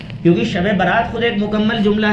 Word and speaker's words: شب برات: असल लफ क्या है कुछ शुबे रात कहते हैं कुछ सबे रात कहते हैं यह सब गलत प्रोनाउंस है गलत तलफ है सही तल क्या है शबे बरात छुटकारे की रात खुलासे